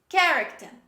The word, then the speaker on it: character: next word this is character character pay attention we have c and h at the beginning of this word but we drop the h letter we don't pronounce it instead we pronounce only